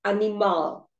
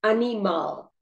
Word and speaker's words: animal: In Portuguese, you say animal. In English, you say animal. Right? So in Portuguese, you say animal. There are 3 syllables here. A, ni, ma. And the stress is on the last syllable because it ends in an L.